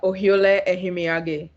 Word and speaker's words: Ohiolei: to screw it up so go ahead pronounce her the last name for me please it's a ohiole okay i would have totally got that wrong